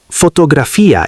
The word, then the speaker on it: fotografía: For example, Fotografía is not photography. it sounds like fotografía.